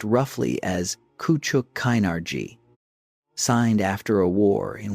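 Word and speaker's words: Küçük Kaynarca: The treaty of Kuchuk Kinarji, the name pronounced roughly as Kuchuk Kinari signed after a war in which the Ottoman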